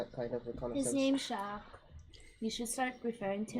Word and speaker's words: Jacques: I believe the S is silent. Jacques.